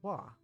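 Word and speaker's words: は: go through each one instead of being pronounced ha you pronounce this particle as wah this is probably the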